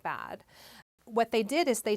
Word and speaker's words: Bad: a place in switzerland bad means spa and they actually pronounce it bad what they did is